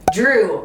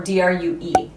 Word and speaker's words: Drue: Drue, but it's spelled D-R-U or D-R-U-E. Seth's brother's name is Drue, and it's not Andrew, it's just Drue.